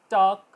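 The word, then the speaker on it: talk: silent letter पर example टॉक क टॉक ठीक है के से पहले ल आएगा तो ल नहीं बोला जाएगा आवाज आएगी वॉक वॉक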